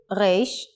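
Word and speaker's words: ריש: of looks like this the pronunciation of the hebrew rash is similar to the french sound try to make the sound from the throat rolling the as if you are gurgling water in print the next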